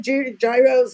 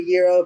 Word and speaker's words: gyro: OS what to I I tell my people when they come I said you call it a gyro we call it a euro pretend it's spelled ye eer O the G being silent yo yeeha yo are